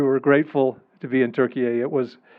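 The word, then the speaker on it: Türkiye: always known it as turkey just a couple of years ago the Turkish government said they want the world to pronounce it as Turkish people do Turkey um and uh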